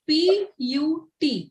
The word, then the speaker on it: put: Like simple example, the word P-U-T is pronounced put and the word B-U-T is pronounced but. It is irritating and it is confusing till we know the right reason why. It's simple that the letter U has multiple sounds.